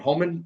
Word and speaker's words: Homan: The new border czar, Mister how do you pronounce his name? Homan.